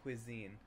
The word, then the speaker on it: cuisine: I don't know how to read this word. It's cuisine. Cuisine. Oh, so it's not an English word, right? It's French.